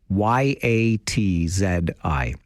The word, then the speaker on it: Yahtzee: It's spelled a little different. Yatzi. That's Yahtzee Runs for Hope, and we'll wish our good friend Jovica, a.k.a.